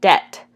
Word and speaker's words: debt: as silent graphemes like in the word debt we don't say the B and then diphthongs are